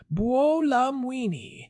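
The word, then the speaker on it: Buolamwini: I saw that Joy Bulamwini pronounced Bolamini and her algorithmic justice league are having a massive hiring surge for policy analysts.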